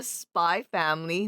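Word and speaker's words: SPY×FAMILY: So we're going over Spy Family. That's how you're supposed to pronounce it. Kind of Really? like it's like Hunter x Hunter. The X is just for emphasis.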